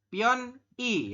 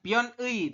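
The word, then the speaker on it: 편의: garis besarnya adalah teman-teman pion i ya bukan pion ei tapi pion I seperti itu y robun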